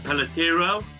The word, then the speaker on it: Pelletiro: My guest today is Pelletero. Have I pronounced your surname correctly?